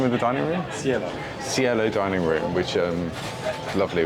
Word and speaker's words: Cielo: same menu but at scale how do you pronounce the name of the dining room cielo dining room which um lovely we're near a